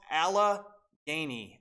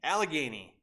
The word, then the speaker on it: Allegheny: I have significantly by buying and selling it's pronounced Allah Gainey Allegheny okay I'll remember that guys Allegheny um but I've I've loaded up on so